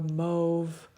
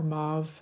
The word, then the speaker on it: mauve: It's just really gorgeous, and I love how it shifts from purple to a mauve or mauve, depending on your pronunciation, to an orange to a pink.